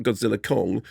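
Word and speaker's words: Godzilla x Kong: I'm just saying so the ex is silent as in yes and because before we had Godzilla V Kong now we've got Godzilla Kong and as somebody brilliantly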